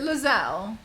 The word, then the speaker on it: Lae'zel: a buckle apparently Lenz Al has is it Lazelle is that how we pronounce the name Al helle as the companion